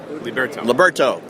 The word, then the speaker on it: Liberto: But and Greg, how'd you pronounce Liberto? Liberto.